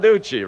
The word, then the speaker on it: Bonaduce: I've got to remember how to pronounce his name. Danny Bonaduce. Right? Bonaduce, right.